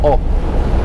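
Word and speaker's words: Å: llama o en realidad el pueblo se llama a vale con dos puntos arriba pero se pronuncia o que es la parte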